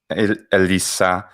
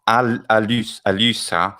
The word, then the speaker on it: Elissa: That's the YouTube address, or you can type it's Elissa, not Alyssa, Elisa. Oh, no. using the, excuse me, Latin pronunciation.